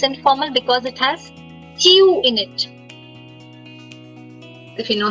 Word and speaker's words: tu: Tu. So there are two rules. Last letter silent and the U sounds like ew.